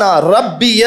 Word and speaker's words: ربی: پروردگار عالم نے کہا سبحان ربی الاعلی. یہ تلفظ صحیح کر لیں، یہ جلدی میں مجھ سے بھی نکلا. ربی را پہ تشدید ہے.